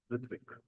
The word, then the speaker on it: Ritvik: How you pronounce Ratvik? Your name? Ritvik.